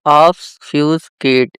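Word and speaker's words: obfuscate: तो ऑफ फ्यूज किट। इसकी यह प्रोनाउंसिएशन रहेगी।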